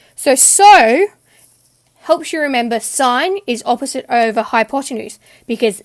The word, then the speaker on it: sine: tan okay so sine so even though it looks like sin it's always pronounced sine then we've got cosine